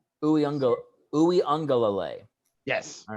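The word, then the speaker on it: Uiagalelei: a ganglia a gunglier yeah the actual uh pronunciation of his name is ooey unga lalay ooh young go ooey angalalay yes all right yeah my wife's got a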